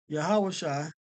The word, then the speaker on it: Yahawashi: the characters yahaha are the characters but it's pronounced haah yah haah okay so now going into the name of the son yahawashi okay we have to go to Joshua okay